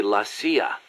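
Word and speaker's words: la CIA: around here they say la Sia instead of CIA huh nothing strange about it that's how it's pronounced when you read it in Spanish it has the feminine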